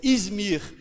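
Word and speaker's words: İzmir: que como eu falei acredito que seja assim a pronúncia izmir então nós temos a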